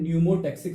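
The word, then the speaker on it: pneumotaxic: और दूसरे का नाम है न्यूमोटेक्सिक सेंटर, यहां पे भी पी क्या है, साइलेंट है।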